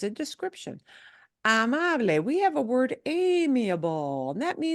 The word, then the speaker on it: amable: this combination in English, anything with a BLE, that's a silent E. And in Spanish, there is no silent E, right? You have to pronounce all those vowels. So that is amable, amable.